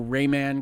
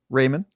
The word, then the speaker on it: Rayman: I know Rayman got an anniversary edition that has little like digital eclipse. Whoa. Raymond, please keep your Raymond, your yes. original pronunciation.